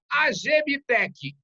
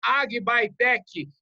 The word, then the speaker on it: AgBiTech: O Adriano Vilas Boas, ele é o CEO global da Agbitec, ou Agbytec, enfim, como você queira pronunciar, que é uma empresa dedicada a insumos biológicos.